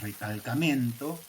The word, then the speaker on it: recalcamento: Yo encuentro la palabra recalcamento, que en portugués no la pronuncio con mi portuñol, la pronuncio así porque este es de Portugal, no de Brasil.